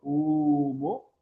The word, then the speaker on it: humo: Porque el H no suena. Bien, la H no tiene ningún sonido, por lo tanto no cuenta como cabeza.